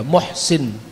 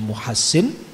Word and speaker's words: Muhsin: Hasan pun juga Hasan antara pertama, kemudian Husain, kemudian yang ketiga Muhsin atau ada sebagian membacanya Muhassin, tapi meninggal waktu kecil.